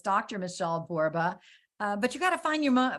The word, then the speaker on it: Borba: I'm a 1L Michele, and Borba rhymes with Zorba.